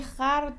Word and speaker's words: خور: رو هم بگم که در زمان قدیم کلماتی مثل خرد خود خوش و کلمات مشابه رو با فتحه تلفظ می‌کردند یعنی خرد و خش و خد و این‌ها تلفظ میشده به این خاطر من اینجا خر رو خر تلفظ کردم که قافیه مون خراب نشه نام این خیر و